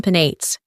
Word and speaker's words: Penates: 고유 명사에서는 a final EOS should be pronounced. 마지막에 에 또는 et를 소리내어 발음해야 합니다. Thus, Sibyl and Penates. 따라서 키벨레와 페나테스는 each have 3 syllables.